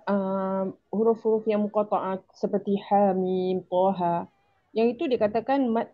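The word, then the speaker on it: حم: Tapi kalau kita baca dalam al-Quran kita baca daripada ejaan ha alif ha mim. kan ha dua harakat. Nah, iya itu mm bacanya panjang.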